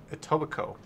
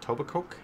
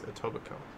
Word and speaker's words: Etobicoke: where one of the people kept calling it tobacoc or i think it totally koki but it's etobicoke do i see something crazy do you want